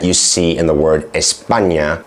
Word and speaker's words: España: For example, there's the letter "ñ" that you see in the word "España," which is pronounced "nyah" and only exists in Spanish.